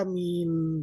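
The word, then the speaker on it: مِن: Kalau bacanya min ya terus baca min. Jangan dibaca man, jangan dibaca mun.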